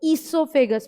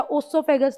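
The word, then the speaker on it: oesophagus: ईसोफेगस होता क्या है, अब देखो, ईसोफेगस, प्रोनाउंसिएशन गलत नहीं करना, ओ जरूर लगता, ओसोफेगस नहीं होता, हमेशा ईसोफेगस होता है।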